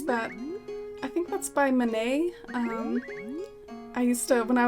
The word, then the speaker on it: Manet: I think that's by MANET I used to when I was a kid I used to say his name like MANET I think it's pronounced more like my name and so there's our